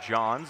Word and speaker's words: Jones: No, his last name is spelled Jones, but it's pronounced John's.